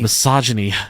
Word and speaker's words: misogyny: A missing guinea pig is what this guy was looking for.